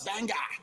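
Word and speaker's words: Bangor: were going like yeah we're going to Banger he's like ah no it's banga bang he's like you gota say it like that I was like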